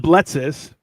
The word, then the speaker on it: Bletzas: Well, so it's pronounced Bletzes, but it is Bletzas, spelled Bletzas.